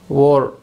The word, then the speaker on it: were: வந்தால் ஓர் அப்படிங்கிற ஆக்சிலர் வெர்பை யூஸ் பண்ணும். யூ, வி, தே, ஓர். சரியா? இதை நிறைய பேர் வேர் அப்படின்னு வச்சுருப்பாங்க. இட்ஸ் not correct pronunciation. Okay, அது கரெக்டான உச்சரிப்பு கிடையாது. ஓர் அதுதான் கரெக்டான உச்சரிப்பு.